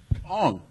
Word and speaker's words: Oung: Like my actual Chinese name is Wong, but they spelled my actual last name O-U-N-G. I've never known how to pronounce that my entire fucking life. Wong.